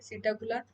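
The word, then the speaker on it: Psittacula: Pavo peacock को बोल रहे हैं, श्रुतियो ऑस्ट्रिच को, और पैरेट को पी साइलेंट है। सीटाकुला कोलंबिया पिजन को बोलते बेटा, कॉर्बस द क्रो।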